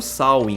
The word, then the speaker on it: Samhain: antiga Tudo começa com o sain que se pronuncia dessa forma mesmo era um festival Celta